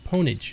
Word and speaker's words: pwnage: more metal what about pwnage opponent doesn't sound like orange it's pwnage it's got an extra it's got an extra syllable in there orange is just straight up orange oh we made 12.